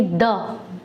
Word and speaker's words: the: consonant से होता है उसके आगे हम टी एई का उच्चारण टी एच य एच यानी कि द द की तरह करते हैं हम इसको ध्यान रखेंगे कॉन्सोनेंट साउंड्स के पहले इसका उच्चारण द की तरह होता है जैसे कि कुछ एग्जांपल्स